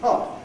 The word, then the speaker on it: hot: Don't drink it while it's too hot to drink, because Americans pronounce hot as we pronounce the word heart.